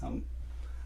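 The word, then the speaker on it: ح: इसमें डॉट नहीं है, और इसकी आवाज़ है हा। एक और हा यूज़ करते हैं, वो यहाँ से निकालते हैं हा। ये प्रोनाउंसिएशन जो है ना, हमने इसका ख्याल रखना है। अरबी में इस चीज़ को बहुत ज़्यादा कंसिडर किया जाता है। ये एच की साउंड निकालता है।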